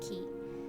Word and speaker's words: 気: this word means feeling the first kanji is pronounced ki a pretty common pronunciation for in my experience